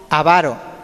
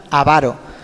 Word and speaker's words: avaro: tampoco ha ser avaro No así está bien avaro que así la verdadera pronunciación A veces lo pronunciamos mal avaro muchas veces somos perezosos